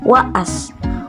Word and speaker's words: wa'as: For some, this double A will be pronounced as long A, whereas Sundanese doesn't have long A as a phoneme. There is a voiced glottal stop within the word. it is pronounced by waas.